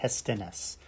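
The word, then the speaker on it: Hestenes: pronounces it David hestennis hestones I know he pronounced it David hestones and um let's have a quick look at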